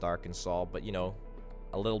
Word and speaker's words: Arkansas: uh no don't damage that uh we've got arkansas i know it's pronounced arkansas but you know a little bit of sass